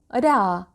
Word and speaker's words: ر: Now ra. Ra is not so easy to pronounce. It needs practice. Well, to pronounce ra, you should use the tip of your tongue and this part of the gum.